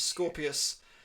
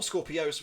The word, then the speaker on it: Scorpios: it last time around it was Scorpius or Scorpios whichever you prefer the pronunciation off and obviously they've also